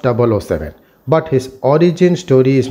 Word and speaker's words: 007: known by his code number 007 or 007, pronounced 007.